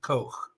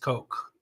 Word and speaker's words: Koch: So not Koch, but Koch. Just Coke. Not the Dutch H, the what's a good word?